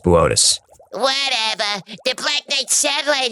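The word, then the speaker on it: Boötes: uncomfortable Arcturus is in the constellation of botus booties botus it says booties on the tel it's pronounced botus whatever the Black Knight satellite is H supposed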